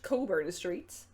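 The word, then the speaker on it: Cockburn Street: Me and my two friends were at Coburn Street, spelled like this, pronounced Coburn Street, apparently, and not like something you should go see a doctor about.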